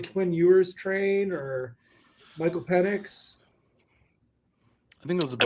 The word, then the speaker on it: Penix: anything, so- It's pronounced penis. Penis 6.